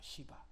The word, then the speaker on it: 시바: 시바. 발음 세게 하면 안 됩니다. 발음. 시바.